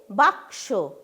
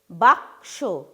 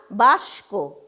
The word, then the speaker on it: বাক্স: সেই জন্য কয়ের উচ্চারণটা আগে হবে, শেষে কিন্তু দন্ত স-এর উচ্চারণটা হবে। আমরা কিন্তু কখনো বলবো না বাস্ক।